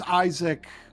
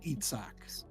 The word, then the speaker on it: Isaac: open and close parentheses, Isaac. On the type. Okay, clicked in the right. All right, good. No, and it's Isaac. ISAAC, not Itzhak.